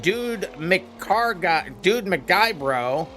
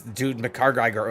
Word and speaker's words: Dude McGuybro: See, as Dude McCar guy bro, it's Dude McGuy bro.